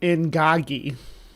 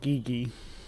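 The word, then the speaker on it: Ingagi: though it had yes I did mispronounce it in in Gogi not not Gigi it was a gorilla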